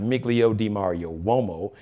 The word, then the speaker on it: Miglio Di Mario Uomo: It's pronounced Miglio Di Mario Uomo, MIGILIODI, Mario, MARIO. UOMO. It's Italian.